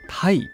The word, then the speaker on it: tai: bean paste filled inside a sea bream is called tai in japanese which is the same pronunciation as tai of meretite which means congratulations or happy so tai are thought